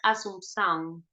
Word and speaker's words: Assumpção: Escucho uno que me gusta mucho que se llama Itamar Assumpção. Mm. Se escribe, ponen Itamar, Assumpc, Sicilia, AO, Asunción, como de Asunción en Mm. portugués.